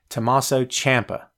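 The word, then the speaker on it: Tommaso Ciampa: now Tommaso Tommaso Champa and I'm determined to pronounce his name correctly because so many of us butcher it every day Tommaso Champa that's it okay champ is like the only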